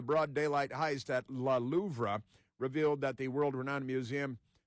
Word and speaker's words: Louvre: I know you pronounce it Louvre. The R-E, they're going to be silent like that, but Louvre, why not?